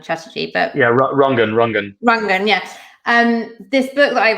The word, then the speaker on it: Rangan: And what I was thinking about when you were talking about, I was, maybe I pronounced it wrongly, Ranjan Chatterjee, but yeah, Rangan, yeah.